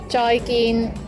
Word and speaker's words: 再見: 再見, 再見, 再見. This also means goodbye. Remember, both of the syllables, joy and gin, are both mid-flat tones.